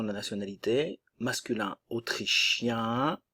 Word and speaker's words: autrichien: de la nationalité masculin autrichien autrichien attention le un nasal et autrichienne ok ici le son et avec les deux n qu'on a de et le E ne se prononce pas autrichienne autrichien autrichienne la Belgique le E